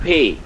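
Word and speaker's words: Pe: P is called pay in German.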